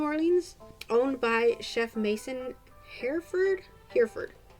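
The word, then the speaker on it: Hereford: owned by Chef Mason Herford Herford not sure how to pronounce his last name h e r e f o r d here Ford who owns not only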